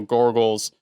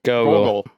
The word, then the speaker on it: Gogol: as one of General Gorgle's... Gorgles? Is that how you say his name? Gorgles? Gogol.